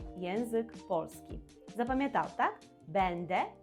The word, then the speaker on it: będę: Якщо ти починаєш вивчати польську мову, то ти плутаєш слова бенде і бендже.